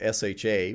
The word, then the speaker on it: SHA: We're going to use something called SHA, which I like to pronounce sha.